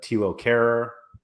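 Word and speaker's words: Thilo Kehrer: So if you're going to buy this Mbappe for $575, you may as well get the $1.11 Ander Herrera, the $3.80 Tilo Kehrer, that's how you say his name, the $3.87 Colin Dagba.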